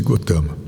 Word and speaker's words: Gautama: era o nome dele gotama escreve-se gautama pronuncia-se gotama ele tem vários títulos